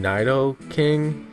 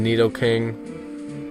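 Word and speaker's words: Nidoking: a neid king today people call it naido queen and naido king it's Neo Queen in need King just so you know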